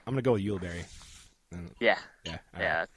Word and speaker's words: Ulibarri: um that doesn't help in in English it's ulber but it's actually a Spanish name which is pronounced uari oh so when everybody calls me oie or